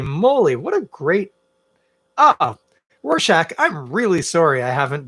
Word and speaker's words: Rorschach: can trip people up i just wanted to let you know that's how we spell it r-o-r-s-c-h-a-c-h that's rorschach um some people pronounce it rorschach hey you do you i'm not gonna judge